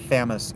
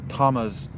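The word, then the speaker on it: Thamus: It's not Famis and thuth. It's Tamas and or Tamas and Toot.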